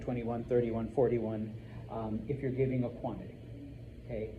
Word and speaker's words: hay: Now, there is a word there, H-A-Y. It's not hay, not what you feed your horse. All right? Remember, H's are silent, so it's pronounced I.